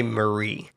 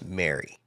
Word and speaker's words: Mary: I keep wanting to say Marie, but it's Mary. Mary. Mary. They say they pronounce it Mary in the movie.